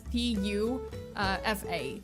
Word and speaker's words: Pufa: It's spelled as P-U-F-A. So it's not like in Polish. It's P-U-F-A. It's not P-O-O-F-A. But yeah, it's pronounced as Pufa.